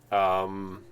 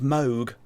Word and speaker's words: Moog: all also mushroom clouds MOOC keyboards it's actually pronounced mogh it smoke I watched